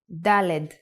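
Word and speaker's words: דלת: to the fourth letter dalid with the sound of De LED that's it just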